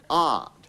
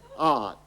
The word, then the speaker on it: out: what you're doing John try and pronounce it out with an r in it art art have you got it yet let's give it a try then shall we leave it art joh that's better isn't